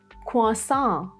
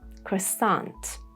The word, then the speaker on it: croissant: Aisle, asthma, baguette, croissant, or maybe Americans say croissant, candle, Christmas, and now this one.